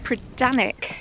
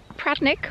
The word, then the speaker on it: Predannack: Locals pronounce the word as Predannack, which would make a lot more sense to me as a Cornish person. We do tend to lose that middle syllable. So Predannack or Predannack, however you pronounce it.